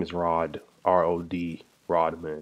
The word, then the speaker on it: Rodman: Rodman. I think he probably meant Rob Man. But just say you Rod Man.